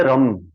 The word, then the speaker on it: रम: आपको वहां फील होगा शुरुआत करेंगे रम आर ए एम रम रम का उच्चारण करेंगे रम मम मम रम